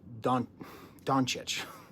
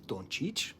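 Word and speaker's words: Dončić: I'm Luka Doncic. It's Doncic, by the way. Properly pronounce it, Kendrick.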